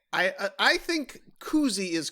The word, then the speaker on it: koozie: yeah that is the brand name or a cozy which i've often heard people say i i think koozie is correct in terms of pronunciation but koozie